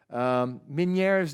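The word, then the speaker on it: Ménétrier: eosinophils in the wall mini Ayres disease this was a described by a French physician so you have to the pronunciation is French I was told as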